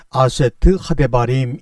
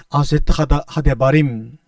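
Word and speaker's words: עשרת הדברים: 이 십계명이라는 단어는 원래 히브리어로 발음하면 아세트 하데바림 이런 말입니다.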